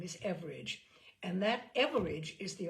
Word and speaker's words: Everage: all let me say her last name is average and that average is the Australian pronunciation for average so he first created Norm